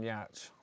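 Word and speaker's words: Giertz: video today of uh simone yatch although it's spelled gertz but i think it i think it's swedish um she's a maker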